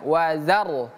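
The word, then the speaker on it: وَذَرْنِي: wazza kemudian rnya sukun maka r-nya juga ikutan tebal wazar wazar rnya ee menjadi tebal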